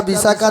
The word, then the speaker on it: বিশাখা: বিষা খা এটা তিনটা যোগ করো কি উচ্চারণ হয় বাবা বিষা খা বিশাখা একটা সাপ ওরে বাবা একটা মাঝে মাঝে ফোনা